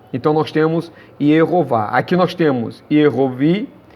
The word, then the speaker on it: Jeová: que se deu, infelizmente, a pronúncia de Jeová. Foi por conta disso. Ierová. Ierová. Porém, não existe a letra J no hebraico. Esse tracinho aqui representa o Y, uma consoante Y, ou um I.